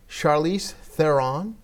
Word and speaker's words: Charlize Theron: I went to a party one time at Chelsea's house with Jennifer Aniston, Sandra Bullock, Charlize Theron.